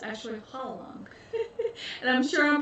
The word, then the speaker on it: Hwarang: It's pronouncing the R, but actually I learned that the R is not pronounced, it's pronounced with like a soft L, so it's actually Hwarang.